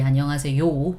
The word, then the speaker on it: 안녕하세요: Okay, so yeah, we don't pronounce yo clearly. 안녕하세요. We don't do that. I mean, it's supposed to be 안녕하세요, but 안녕하세요, softer, right?